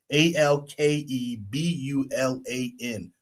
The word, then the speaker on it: Alkebulan: A L K E B U L A N Alkebulan.